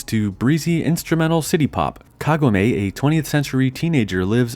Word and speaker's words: Kagome: I know Kagome is correct, but growing up with YTV and a quarter century of memes, it's hard not to pronounce it Kagome.